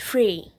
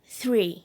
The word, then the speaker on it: three: uma palavra totalmente diferente o três ele se pronuncia dessa maneira é free 33 no três ele é inscrito com t